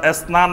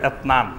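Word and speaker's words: اثنان: অর্থাৎ এসনান বলবে না বলবে এতনান।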